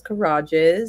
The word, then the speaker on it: Kirages: is uh collages um my last name is kages so it rhymes with collage it and so if